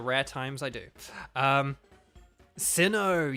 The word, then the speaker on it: Sinnoh: times I do um Sinnoh yes yeah zandas plays it sinner that's cool that see that's a cool pronunciation though anyway here you